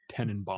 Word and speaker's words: Tannenbaum: I know what Tannenbaum means. Then you gotta say it right. It's Tenenbaum.